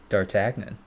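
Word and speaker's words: D'Artagnan: How do you pronounce that pronunciation? How about that? Dartagnon. Dartagnon. Huh? Dartagnon.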